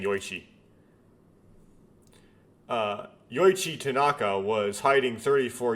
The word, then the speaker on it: Yoichi: someone who speaks English, when I see a CH in that context with those sequence of letters, I tend to pronounce it like a K.